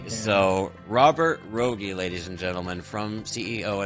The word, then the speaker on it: Rogge: group today together is it is pronounced Rogge. Yeah. Rogge. For years, I have seen your name written and not spoken. So in my mind, I've always thought it was like Roge or Rogue or Yeah, something.